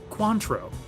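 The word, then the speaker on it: Cointreau: Eight parts vodka, three parts cointro, three parts lime juice, six parts cranberry juice. Shaken and served in a large cocktail glass. How sophisticated. 20 seconds. I've been informed that it's pronounced quantro.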